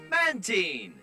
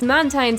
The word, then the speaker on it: Mantine: I refuse to call this thing Mantine as well. I know that one of the root words for its name is marine, which is where the pronunciation comes from, but I always thought that it was derived from the words manta and brine, so that pronunciation stuck and I can't unstick it.